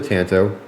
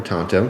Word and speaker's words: tanto: tip very similar to a Tanto or Tanto depending on how you say it but they also sharpen